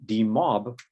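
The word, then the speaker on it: demob: syllable so for example in d-mob the stress is on the second syllable and it's easy to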